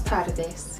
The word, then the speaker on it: tardes: Don't roll your R too much if there's one R in the word. At times in Spanish there will be two R's in a word and then you want to have a longer rolling. So if you roll your R too long, you're going to be saying it incorrectly. Buenos tardes. It's a one R, so it's a short roll.